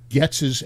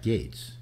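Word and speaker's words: Gaetz: sex suit um getz's ex-girlfriend testifies to great jury gates all right yeah uh well gets kate's oh getz is your neighbor was your uh matt gates yeah pronounced yeah yeah goetz was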